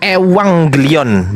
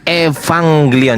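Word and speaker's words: Euangelion: Itu dibaca ewanglion bukan Evanglion. Jadi huruf huruf V di dalam bahasa Yunani enggak ada. yang ada itu dibaca F, tapi F-nya itu adalah P H I. Itu dibaca V tapi bukan V tapi dibaca V. Nah, itu ya. Jadi, tapi itu enggak menggunakan V, Teman-teman. Itu menggunakan eh epsilon terus kemudian eh ssilon jadi ewang gelion gitu epsilon e gitu bacanya teman-teman ya.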